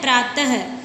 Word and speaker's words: प्रातः: विसर्ग का उच्चारण जो होता है वो आधे है की भांति होता है, हलंत वाला है होता है, उसकी भांति उच्चारण होता है। जैसे प्रातः, प्रातः लिखते हैं तब प्रातः लिख के उसके पीछे दो बिंदी लगते हैं ना, तो उसका उच्चारण हम कैसे करते हैं, प्रातः।